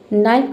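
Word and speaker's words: knife: के एन के एन। लेकिन यहां पे के को हम प्रोनाउंस नहीं करेंगे।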